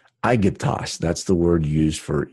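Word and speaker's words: Αἴγυπτος: So, and this word here is pronounced Strong's G125, Aegyptos. Aegyptos. Aegyptos.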